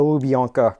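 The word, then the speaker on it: Lubyanka: is dreaded um uh I believe it's pronounced Lanka or or uh something very similar um the lubianka prison so this was the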